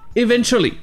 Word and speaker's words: eventually: dans les commentaires eventually tout d'abord voyons la prononciation ici vous avez le mot event ensuite vous avez le tew qui se prend ce que le à qui se prononcent eux et enfin vous avez lit et tout ça ça donne et venture y est tout comme le moa tueries dont on avait parlé en avril les anglais diront le mot vite et ne prononceront pas le ou ce qui va donner evento lit très bien passons à